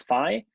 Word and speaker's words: phi: And then this phi variable that we see in here, you pronounce that as phi.